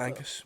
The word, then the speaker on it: Angus: we were in, Angus, sorry if I'm not pronouncing your name right, Angus. That is Angus, isn't it? Angus.